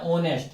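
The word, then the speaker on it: honest: देखो स्टार्ट काहे से हो रहा है? एच से। लेकिन जब इसको अपन बोल रहे हैं तो क्या आ रहा है? ओनेस्ट क्या आ रहा है? ऑनेस्ट याद रखना।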